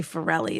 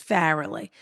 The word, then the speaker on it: Farrelly: garrod ferele yeah fairly i always say it wrong i say pharrelli it's fairly grodd farrelly was my co-host